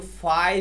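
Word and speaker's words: φ: फाई, okay, pronunciation है फाई, okay.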